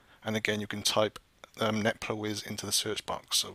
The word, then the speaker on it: netplwiz: called, I believe you pronounce it something like Netplwiz. It's spelled N-E-T-P-L-W-I-Z.